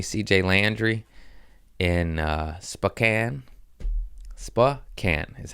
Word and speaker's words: Spokane: into the homie cj landry in uh spokane spa can is how you pronounce it even though it's spelled spo kane